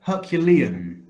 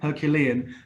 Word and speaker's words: Herculean: that I have in brackets now this word Herculean Herculean that is an adjective there from the name